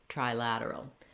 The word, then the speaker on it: trilateral: You're always going to have the stress on the lad syllable, the la, unilateral, bilateral, trilateral.